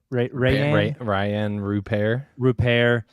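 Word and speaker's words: Rayan Rupert: Ryan, is that how you say it? Right. Ryan Rupert.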